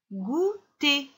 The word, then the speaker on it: goûter: Le goûter. Le goûter. Je n'oublie pas le ER qui fait le son et.